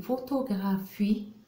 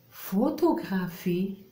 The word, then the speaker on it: photographie: Dans le mot photographie, une photographie, on doit recopier les syllabes dans le mot photographie. La première syllabe, faux, P-H-O, faux, faux. Et la deuxième syllabe, P-H-I, fi.